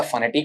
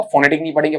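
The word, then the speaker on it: phonetic: इसका जो साउंड है ये ऐसा फनेटिक होगा फोनेटिक नहीं पढ़ेंगे फनेटिक और स्पेलिंग चेक कर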